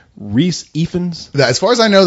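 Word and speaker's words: Rhys Ifans: Reese Ifans?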